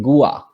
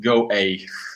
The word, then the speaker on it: Go_A: today we are going to interview the amazing gua uh welcome hi hi how are you uh we're fine thanks uh and uh actually it's pronounced go a go yeah thank you um can you tell